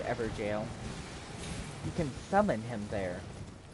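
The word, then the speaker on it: Evergaol: one so okay i think it's weird that's pronounced ever jail you can summon him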